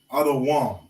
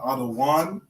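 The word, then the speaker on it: אדום: I believe it's Adawam. Adawam. Okay, Adawam is how you say red. Adawam. Okay. I'm 90% sure it's Adawam. Okay, not Adawan. Adawan is how you say Lord or Master, but Adawam. Okay, with a M at the end.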